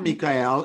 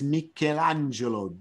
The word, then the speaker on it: Michelangelo: as you said that it's not arabic it's not mikaela kifik it's not mikhail it's michelangelo have you ever heard have